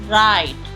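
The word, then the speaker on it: write: W silent. Ward, ward. Rack, rack. राइट, राइट।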